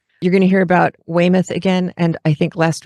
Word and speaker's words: Weymouth: And so I wrote out phonetically Weymouth.